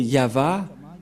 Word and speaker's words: Yahvah: Il s'agit donc de translittérations fausses que les catholiques romains ont fait, mais l'original c'est ceci, c'est Yahva, Ilshama, Yahva Shmo.